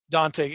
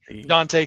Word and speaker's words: Dontay: She wrestled our champion, the Dontay, and you have to say it like that. It's the Dontay Khalifah.